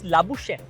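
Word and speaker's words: Labuschagne: প্রথম question Australian একজন ক্রিকেটারের নাম হচ্ছে মার্নাস লাবুসেন কি কি মার্নাস লাবুসেন লাবুসেন আপনার বলতে হবে লাবুসেন এই নামের বানানটা লাবুসেন লাবুসেন লেবুন না না লেবুর লাবু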